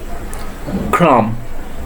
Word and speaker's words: crumb: Next one is CRUMB. Crumb. Crumb. B will be silent.